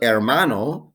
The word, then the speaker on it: hermano: nieta grandson granddaughter el hermano la hermana brother sister don't forget agents h silent in spanish el hermanastro la hermanastra